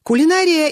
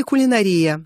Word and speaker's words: кулинария: в Белорусском брында бездельник кулинария или кулинария абсолютно равноправны оба варианта правильно пертурбации говорим когда имеем